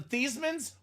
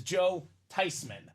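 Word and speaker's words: Theismann: wrong the whole time yep we're not the thesans we're not the THM we're the tyman the tyman the proper way to pronounce this man's name is Joe tyman now I told this story at Christmas family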